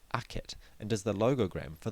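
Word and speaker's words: akhet: This glyph which shows the sun setting between two mounds is pronounced aket and is the log for the word horizon.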